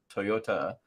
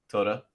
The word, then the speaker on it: Toyota: Toyota. I was reminded today is a 3-syllable word. Toyota. How are you saying it? Toyota.